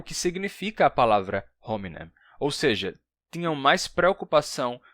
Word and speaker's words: hominem: de as pessoas falarem assim, mas para reclamar que tinha gente que odiava a pronúncia, por exemplo, da palavra hominem como ominem sem o h, mas essas mesmas pessoas